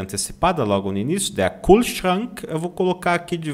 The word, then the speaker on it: Kühlschrank: Kühlschrank, Kühlschrank. Kühlschrank. Ou, com R na ponta da língua, Kühlschrank, né? Kühlschrank, tá?